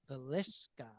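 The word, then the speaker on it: Villisca: And so we decided that we would go ahead and do our own episode on the Vallisca.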